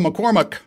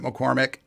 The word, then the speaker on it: McCormack: yeah, this is McCormack. Is that it? Yeah. McCormack. Get right by it. And it kind of counts, I guess. Because everybody pronounces it McCormick.